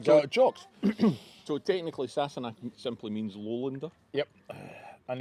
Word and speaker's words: Sassenach: Sassenach.